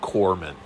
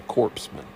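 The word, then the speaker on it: corpsman: Obama, he's a He couldn't even pronounce the word corman. Okay. When he was talking about one Medal of Honor recipient, he kept referring to the man as a corpseman because, you know, he's just so educated.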